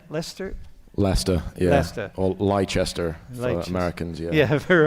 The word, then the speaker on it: Leicester: Leicester, yeah.